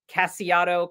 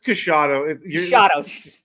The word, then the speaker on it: Casciato: We have episode 101 and we have aka I think most of you probably know him as Casiato Comics. Did I pronounce that right? It's Cashado.